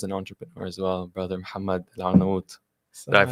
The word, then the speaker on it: Mohammed Al-Arnawoot: And we have someone who is Muslim and involved in this industry and is an entrepreneur as well, Brother Mohammed Al-Arnawoot. Did I Assalamu pronounce alaikum.